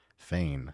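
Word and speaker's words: Feijen: Niels Fane, I guess his name is pronounced. I've been pronouncing it wrong for years. Yeah, I've heard some people it was like Farhan or something, as I've heard it pronounced.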